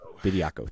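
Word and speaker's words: Bediako: Bidako.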